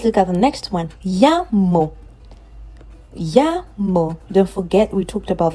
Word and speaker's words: llamo: Llamo. Don't forget, we talked about the fact that when you see a double L, the sound you get is y.